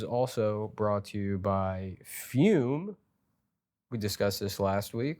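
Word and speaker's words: Füm: f-u-m-e-u-m-e so I think fume right fumi hobby yeah um anyways here's here's fume right and that's f uh uh umlaut over the U and pronounced fume and what fume is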